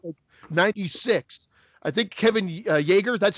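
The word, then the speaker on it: Yagher: I think Kevin Yeager, that's how you pronounce his name, the special effects guy.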